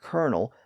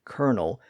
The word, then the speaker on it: colonel: o n l well if that spelling has always confused you it's because of that close relationship between the L and R sounds the word kernel is actually related to